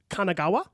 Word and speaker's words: Kanagawa: thinking about was called the great wave of Kanagawa and I hope I'm saying that correctly Kanagawa is right and it was by an artist